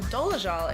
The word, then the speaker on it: Dolezal: In a world where outrage-inducing news stories are pretty much a dime a dozen, the Rachel Dolezal fiasco, or Rachel Dolezal as she pronounces it, still stands out as one of the most bizarre cons of our time.